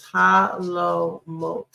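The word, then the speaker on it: חלומות: We write down our chet with its hetef, with a followed by our lamet and colon vav, followed by our mem, followed by its vowel, and final letter tav. And so when we pronounce this, it's halomot, halomot.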